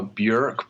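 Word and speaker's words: Björk: ork I know that's what weight the real pronunciation is burek is this a yeah exclusive well the person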